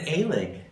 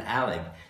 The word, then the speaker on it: Alig: But they pronounce it Alig. Yeah. Well, a lot of people called you Alig. I know, but it's not right. And didn't Lahoma call you Alig? Yes. Didn't Larry T call you Alig? Yeah. Yep. Michael Alig. Yep. Rudolph was the only one who pronounced it actually properly, because it also is an Alig. It's Alig. That's how. Right. Well, that's the German pronunciation.